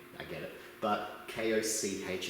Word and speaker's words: Koch: It's an unfortunate name, I get it, but K-O-C-H is pronounced Koch.